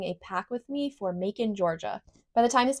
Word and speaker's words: Macon: are just heading to Mon. And that is spelled M A C O N, like bacon with an M.